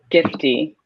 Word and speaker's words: Gifty: You pronounce her name Gifty? Gifty? Yes, Gifty.